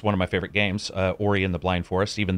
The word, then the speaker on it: Ori: my favorite soundtracks, one of my favorite games, Ori and the Blind Forest, even though I pronounced that first name wrong for the first, like, 6 months the game was out. I think I was calling it Ori.